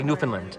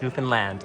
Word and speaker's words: Newfoundland: Your favorite thing about Newfoundland. And you helped me pronounce it correctly. I would say Newfoundland. It's Newfoundland. Like Disneyland.